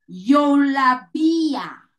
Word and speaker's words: eulabeia: Eigenlijk, ela escreve a palavra Eulabeia. Eulabeia. Eulabeia. Digo que eu la veia, pero de su forma de spreken uit, de pronunciar, bota pronunciar yo la via, yo la via, ye, es un prometa eu la via, E-U-L-A-B-E-I-A. Então, su pronunciação ta yo la via.